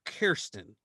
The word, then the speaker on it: Kirsten: thirsty, so Kirsten. Thirsty is Kirsten.